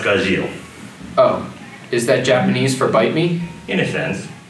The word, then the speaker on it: Gajeel: Gazelle Red Fox. He's pronounced Gazil.